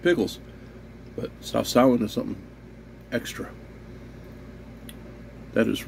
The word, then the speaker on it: Sawsawan: And then my semi-silent partner in crime, Eileen, had suggested one time to put Sawsawan, gotta remember to pronounce that first W, to put that on the fish and rice.